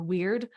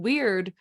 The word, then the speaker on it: wyrd: at the same time, that word weird, when it's spelled W-Y-R-D, that's fated. This was our destiny to follow this path, that all of our choices do determine what our life looks like. That's what's weird. That's W-Y-R-D.